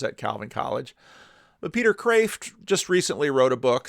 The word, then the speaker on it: Kreeft: Not too long ago, Peter, I should say Kreeft, because the Dutchmen always complain about how I butcher the Dutch language and I should know better.